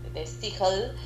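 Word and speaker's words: De Stijl: Se pronuncia de de steel. De steel de steel. De steel. El idioma sería un irlandés según averiguamos.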